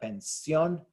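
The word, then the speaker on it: pensión: the stress is so we've got pension we are that's an N at the end so our rule should it should be on the second to last syllable it's not it's on the last syllable so we Mark that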